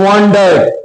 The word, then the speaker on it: wondered: such a great man without a shirt, he wondered, WONDERED, উচ্চারণে দাগ দেবো, WON, দাগ দাও, WONDERED, ওয়ান্ডার্ড মানে হচ্ছে অবাক হওয়া।